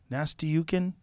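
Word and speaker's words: Nastyukhin: nukan say his name nasty yukin it's like nasty is in his name it's like nasty yukin nastyuk he's a [ __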